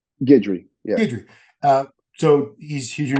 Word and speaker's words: Guidry: Guidry, yeah.